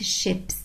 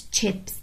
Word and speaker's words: chips: فمثلا لو انا قلت الشيبس ما قلتش تشيبس، ايه اللي هيحصل؟ لو انا قلت الشيبس هتتغير معناها خالص، هتبقى بمعنى سفن، عشان شيب شيب اللي هي دي، شيب يعني سفينة، وجمعها شيبس سفن.